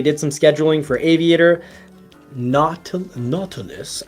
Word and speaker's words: Nautilus: some scheduling for Aviator Nautilus I don't think you're supposed to say naughty list but it really does almost make me feel like it should be pronounced naughty list but I'm sure that